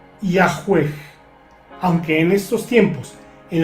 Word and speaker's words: Yahweh: Los eruditos modernos conjeturan que originalmente se pronunciaba Yahweh, aunque en estos tiempos, en las traducciones modernas de la Biblia, por ejemplo, se escribe Yahvé.